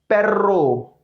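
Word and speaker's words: perro: ऐसी यहां पर जो हमारा दोबले एर्रे उसको प्रोनाउंस करते समय हमें अपनी टंग को टिल्ड करना पड़ेगा, लाइक पेर्रो, पेर्रो, पेर्रो।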